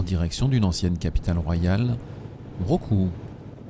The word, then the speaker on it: Mrauk U: De Sittwe, nous embarquons pour remonter le cours du fleuve Kaladan, en direction d'une ancienne capitale royale, Roku, dont le nom se prononce en birman Yahoo.